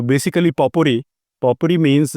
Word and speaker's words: potpourri: यस यू can think about anything अब ये पावरपुरी पावरपुरी basically इसमें टी आपको साइलेंट बोलना चाहिए सरली स्पीकिंग सही this word is basically पॉपुरी पॉपुरी बट इफ आई से पॉपुरी हम सो